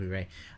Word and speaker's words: Urey: name was Harold Urey, I've been pronouncing his name wrong as Oya, for which I apologise. Harold Urey.